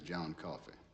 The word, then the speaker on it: Coffey: Your name is John Coffey. Like to drink, only not spelled the same.